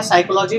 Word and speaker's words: psychology: ऐसे ही साइकोलॉजी में पी तो साइलेंट है, तो साइको, PSYCH याद रखना, सी नहीं होता अकेले, CH होता है।